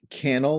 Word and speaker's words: Cannell: don't know you shaw it's pronounced sean cannell like channel yeah like youtube channel like youtube channel he's